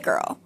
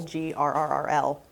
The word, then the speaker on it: Grrrl: And the reason it is spelled girl, Grrrl, is basically to accentuate like the growl that is very prevalent in Riot Grrrl.